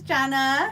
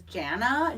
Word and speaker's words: Jenna: why it is not my name is is Jenna j n n a like Jenna Jameson Jenna Elfman I don't know any other Jenna so now it's going